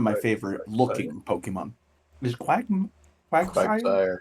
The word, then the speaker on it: Quagsire: Is Quagsire? Quagsire.